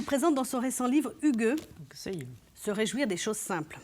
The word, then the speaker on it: hygge: Cela s'écrit H-Y-2-G-E, mais ça se prononce hygge. Et c'est danois.